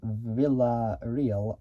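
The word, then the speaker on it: Villarreal: and uh businessman uh Gilbert uh Vel which is spelled uh v i l l a r r e a l luds and Villa real began a VL Automotive in uh 2012 and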